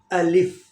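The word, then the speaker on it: ألف: कुछ दोस्त इसको पढ़ते हैं अलीफ। अलीफ पढ़ना गलत है, या पढ़ते हैं अल्फ पढ़ना भी गलत है। सही करेक्ट प्रोनाउंसिएशन है इसकी अलिफ, और दूसरा लेटर है ब।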